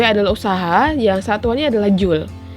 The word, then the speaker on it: joule: Dimana usaha di sini, W adalah usaha, yang satuannya adalah joule. J ini bacanya joule, tulisannya joule.